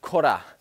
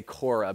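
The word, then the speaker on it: Korah: an a man named cora i think it's a correct pronunciation i'm gonna say quora because that's easier for an american k-o-r-a-h uh korra and um this guy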